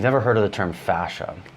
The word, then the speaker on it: fascia: If you've never heard of the term fascia, it kind of sounds like the whole Dutch thing from Austin Powers, fascia, but it's spelled F-A-S-C-I-A.